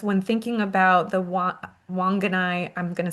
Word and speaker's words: Whanganui: Uh Gabriella says, "When thinking about the Wa- Whanganui, I'm going to say it wrong, river Wa- Whanganui. Whanganui, thank you.